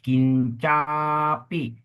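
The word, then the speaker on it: kiñcāpi: of of the phonetics number one kincapi a has a di critical mark on the top that means a long a kincin kincapi yes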